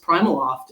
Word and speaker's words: PrimaLoft: It's pronounced Primaloft and I didn't know that until I interviewed there.